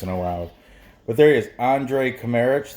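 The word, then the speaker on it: Andrej Kramarić: allowed but there is Andre chimeric the J is silent and he is at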